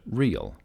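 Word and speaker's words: REIL: runway and identifier lights the acronym is re il pronounced like the word real real lights help identify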